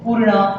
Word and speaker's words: पूर्ण: पूर्ण। देखो, बोलने की ट्राई करो। पू के यहाँ पर हमें कोई र दिखाई दे रहा है? नहीं। पर अगर ऊपर ऐसा है तो हम र प्रोनाउंस करते हैं, राइट।